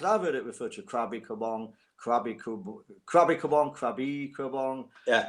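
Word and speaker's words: Krabi Krabong: When I go to Thailand, they say Krabi Kabong.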